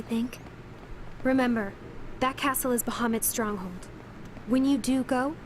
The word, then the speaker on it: Bahamut: Hey, at least they pronounced Bahamut correctly.